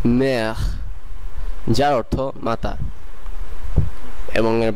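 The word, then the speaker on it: mère: আপনাদের মনে রাখতে হবে এর উচ্চারণ গলা থেকে আসতে হবে। এরপরের শব্দটি হলো মের, মের, মের যার অর্থ মাতা এবং এর বাংলা কাছাকাছি উচ্চারণ মের।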